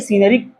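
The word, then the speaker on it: scenery: एस के बाद सी आता है तो क्या लगता है? सी आपका साइलेंट हो जाता है। तो अगर ये सीनरी सीनरीज नहीं होगा तो सीनरी होगा।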